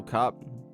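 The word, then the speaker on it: Kape: I've got Manuel Kopp.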